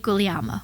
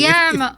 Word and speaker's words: Guglielmo: talented casting director and my dear friend, David Guglielmo.